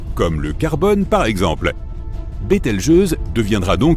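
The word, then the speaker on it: Bételgeuse: Quant à la manière de prononcer correctement Betel Je, tu peux le faire comme bon te semble. Tu peux même dire Betel Juice si tu en as envie.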